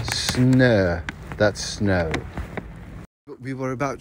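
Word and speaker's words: snö: i'm gonna teach you the swedish word for snow and that is s n and this funny letter that oh with two dots pronounced air snur that snow we were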